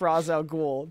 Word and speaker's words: Ra's al Ghul: I think if in the movie universe it's pronounced Ra's al Ghul then like and you're talking about that version